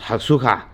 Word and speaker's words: Hakosuka: Somebody was telling me that you don't pronounce it like that. It's pronounced Hakosuka, but it's in Texas now.